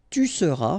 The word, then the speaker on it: tu seras: Je serai, tu seras, final S not pronounced, il sera, elle sera,